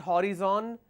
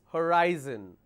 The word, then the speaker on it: horizon: It's not horizon, it's horizon.